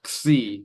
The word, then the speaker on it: xi: So the letter C is a bit odd. It represents like KS or X. And so just pronouncing that by itself, Xi is a bit weird, but that's what it is.